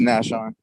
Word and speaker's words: Nashon: Now, first of all, how you pronounce the first name? Nashon or Nashon? It's Nashon.